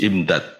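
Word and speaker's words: إمداد: pasti Allah akan memutus imdad imdad bikasril Hamzah hamzahnya di kasasrah masdarun itu masdar dari amaddahu au atau bacanya bifathiha kalau difat amdad kalau dibaca amdad jamu madadin itu jamak dari kata Mad Madad kalau amadda itu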